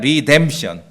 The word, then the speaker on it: redemption: 구속했을 때 명상으로 리뎀션이에요 제 설교를 들으니까 한번 발음해 봅시다 리뎀션 해보세요 시작 리뎀션 그 다음에 명사형은 구속인데 명사는 이제 제가 구속